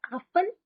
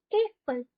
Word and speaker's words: Äpfel: Not Apfel, Äpfel.